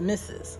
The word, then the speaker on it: Mrs: Miss A Ms to Mrs RS which is pronounced misses okay you are considered